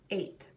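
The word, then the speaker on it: eight: 8. Now you might be confused about why the letter G is in there, because like many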